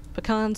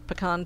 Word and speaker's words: pecan: that's the sewer fruit olives I don't need pecans on though I'm going to need because I got pecan pie and stuff now don't eat them yes